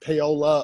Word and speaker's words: Paoli: weird that reminds me how paoli oklahoma is pronounced paola oklahoma even though it's spelt with an eye